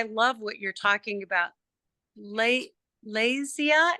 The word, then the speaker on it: Lezya: what you're talking about Le laia is that how I say your name yes that's perfect lesia or the Spanish pronunciation my parents are Leia Leia Leia or Leia